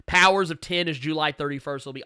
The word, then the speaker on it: Powers of X: powers of 10 and I know you see an X there but Jonathan Hickman has come out and said that this is actually a 10 not an X you can pronounce it powers of x if you choose but it uh but Jonathan Hickman was very vocal about the fact that is actually powers of 10 uh House of X